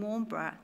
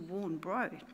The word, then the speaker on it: Warnbro: They've changed the pronunciation of the suburb name from Warnbra to Warnbro.